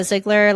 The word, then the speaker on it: Zeigler: But basically, for now, you just type in my name, Ziggler. Last name is spelled Z Ei G- L E R.